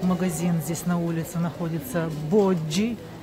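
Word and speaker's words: Boggi: здесь на улице находится боджи правильно читается Не боги тоже это производство Милана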